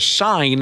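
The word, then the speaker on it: Seine: the water in a river called the sign I believe is how you say it apparently the sign is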